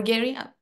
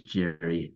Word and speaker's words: Jerry: competitive Advantage as well Jerry or Gary please pardone me I'm not pronouncing well your first name thank you it's it's Jerry thank you very much